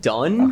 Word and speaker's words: Donne: Dome.